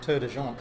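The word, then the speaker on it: Tor des Géants: And now you're getting ready to do the, how do you say, Tour de Jean? Tour de Jean.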